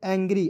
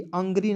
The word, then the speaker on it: angry: ठीक है, क्या पढ़ेंगे? एंग्री, अंग्री नहीं पढ़ेंगे।